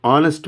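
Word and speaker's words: honest: hour on hour in the same way ఆన్ హానెస్ట్ మ్యాన్ హానెస్ట్ హౌ to spell this వన్ యు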